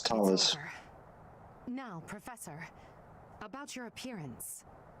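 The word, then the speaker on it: Thales: Talus, that was how to pronounce it. It was Talus.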